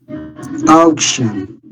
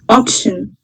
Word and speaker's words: auction: Can you pronounce it again? Action. Again? Auction.